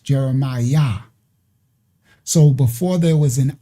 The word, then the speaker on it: Jeremiah: That's why when they transliterate the names in the Bible, they say um Jeremiah is J E R E M what? I a H. And how is it pronounced? Jeremiah.